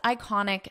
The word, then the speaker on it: iconic: of the world's most iconic sites listen to the pronunciation here iconic iconic iconic so we pronounce this as an i sound iconic and the syllable stress is in the middle iconic sites now because